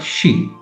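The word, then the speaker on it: し: So the K row is C key c. The next row is the S row. So the characters here the sounds become S. The next one is an exception. It's not C but she.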